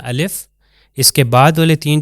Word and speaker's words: ا: तो जहां पर भी अलिफ आएगा वो अलीिफ उसी तरह बयान होगा। यानी जिस तरह अलिफ मैं कर रहा हूं। उसकी कोई साउंड या उसके ऊपर मद्दा नहीं लगाना। आ नहीं कहना अलिफ कहना है।